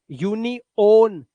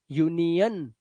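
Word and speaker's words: union: बट किसी word के last में आ रहा है तो अ की आवाज टेलर टेलर नहीं डॉक्टर नहीं डॉक्टर यूनओन ना यूनियन लेसोन नहीं लेसन।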